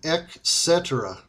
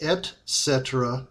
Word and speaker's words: et cetera: it to stop saying ecet the term is from Latin and is pronounced Etc with a t there is no k sound in it so once again please stop saying ecet you are giving me